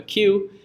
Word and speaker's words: queue: what it sounds like a queue which unfortunately is the letter Q followed by for silent letters how stupid is a